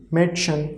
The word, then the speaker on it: Mädchen: See, chen is coming at the end, so amit umlaut is a, like may, Mädchen. Okay, Mädchen. D we are pronouncing here really less, so pronunciation will be, we are writing here in Hindi, but pronunciation will be really less, Mädchen.